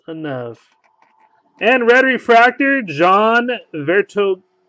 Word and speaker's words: Vertonghen: And Red Refractor, John Vertonghen. Right? Vertonghen, he said the H is silent.